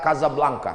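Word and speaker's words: Casablanca: sehat bisa ke mesjid Hasan dua di Kota Kasablanka Hai ibukota Maroko tempat saya kuliah nama negaranya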